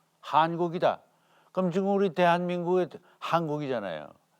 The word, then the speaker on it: 환국: 이걸 환이라고 발음하지 않고 한이라고 한국이다.